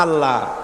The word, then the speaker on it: আল্লাহ: আল্লাহ এই উচ্চারণটা আমাদের অনেকের হয় না কেউ বলে না আল্লাহ আল্লাহ পাকের উচ্চারণটা হচ্ছে আল্লাহ পাকের নামের উচ্চারণ হচ্ছে আল্লাহ মুখটা একটু গোল হয়ে যাবে বলেন আল্লাহ আল্লাহ সুবহানাল্লাহ